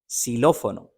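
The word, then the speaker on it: xilófono: कि वाफ एकस एक्स को कहते हैं एकस सिलो फोनो सिलो फोनो ये एक म्यूजिक इंस्ट्रूमेंट है इसको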